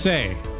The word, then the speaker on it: Sai: Call me Sai. Alright, Sai, I'm Dorothy. Say, Sai. Yes. Sai, say. Oh, say. Yes, yes. Say. So it's say, it's pronounced say.